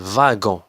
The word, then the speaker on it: wagon: هنا دبليو تقرات في. في تقرات في. لو فاغون. لو فاغون.